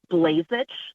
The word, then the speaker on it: Blazich: for taking my call my name is Shirley blazich that is spelled sh h iir l y last name